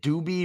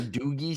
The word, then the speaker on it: Doogie: first word is though it's like is it doobie or Doogie something yes doie Hower that's right Doogie Hower